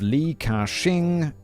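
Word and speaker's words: Li Ka-shing: the eldest son of lee kashing um pronounced exactly as you say it is an english speaker brilliant that's a lot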